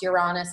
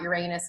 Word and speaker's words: Uranus: to even know that it's pronounced you're honest and not Uranus is a big deal